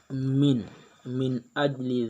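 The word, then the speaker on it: من أجل: Yang pertama min ajli dzalika. Pada kalimat min di sini terdapat huruf bacaan izhar halki karena ada huruf nun mati atau sukun bertemu huruf alif. Cara membacanya jelas di mulut.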